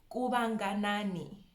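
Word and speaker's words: Kuvhanganani: Kubanganani. Kubanganani. Kuba, the VH. I hope we know by now that VH is a V.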